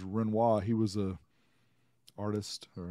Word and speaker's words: Renoir: And I'm trying to remember, it's the Renoir. So some people call it the Renoir, but the way you pronounce his name is Renoir.